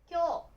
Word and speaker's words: 今日: viết nó thành "今日" và đọc nó là "kyou." Nó có nghĩa là "hôm nay." Một cách đọc đặc biệt khác của chữ Kanji cho "今" là vẽ "今年" và đọc nó là "kotoshi."